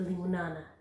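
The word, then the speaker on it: limonana: So, limon, I would pronounce it limo-nana, not lemon-nana.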